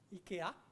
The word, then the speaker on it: IKEA: I don't know if you should say IKEA, it's probably in Swedish, what's the right way to say? IKEA.